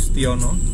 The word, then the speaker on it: Sutijono: Ini sebelah kanan ini adalah Rumah Sakit Umum Daerah, Rumah Sakit Umum Setiono Blora, Dr. Sutijono ya, bacanya Setiono.